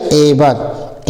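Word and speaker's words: able: एबल ए बी एल एबल है ना?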